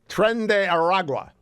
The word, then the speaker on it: Tren de Aragua: Tren de Aragua. Now I know how to pronounce it.